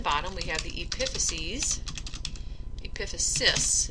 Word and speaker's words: epiphysis: we have the epiphyses epiphysis is how you would pronounce that pronounce that and on